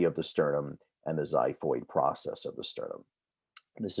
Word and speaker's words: xiphoid: here and then a xiphoid process xiphoid is spelt with an x although it sounds like a z xiphoid process is the